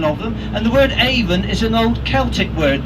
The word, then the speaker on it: Avon: Aven first of all you notice that I pronounced it even not Avon Avon is a cosmetic company this is the